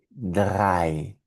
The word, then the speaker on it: drei: La E con la I juntas en alemán producen un sonido de I. Ejemplos de palabras: eins, que es el número uno; mein, que es mío, mein; y drei, que es el número 3 en alemán.